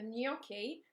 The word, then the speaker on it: gnocchi: going to show you the nokia today sorry the gnocchi we have to be careful how to say it make sure that we've got a proper new at the start of that uh so this is